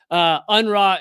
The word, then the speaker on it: UNRWA: But I've tried several times to explain just how large is it UNRWA? Is that how most people pronounce it? Yeah. UNRWA is, and because some people picture an aid